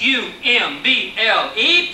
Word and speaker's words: Humble: his name was Samuel Pleasant Umble spelled h u m b l e pronounced u m b e Umble this little boy